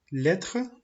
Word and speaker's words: lettre: Lettre, muet. Letra muda. Lettre, fíjense que termina con una E, pero nosotros no pronunciamos la E, simplemente es lettre.